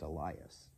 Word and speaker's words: Elias: Elias. Okay, so I think according to this, it's actually supposed to be pronounced Elias. Anyway, 26, John answered them,